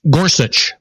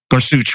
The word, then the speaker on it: Gorsuch: Neil gor I don't know exactly how to pronounce his name guch Gorsuch G Gorsuch okay yeah and uh after listening